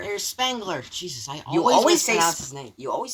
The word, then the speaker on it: Spengler: Spangler. There's Spengler. Jesus, I You always always say mispronounce his name. You always say Slangler.